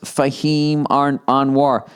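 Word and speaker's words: Fahim Anwar: Or watch your favorite sets from comedians like Fahhem Anoir, pronounced Fahhem Anoir.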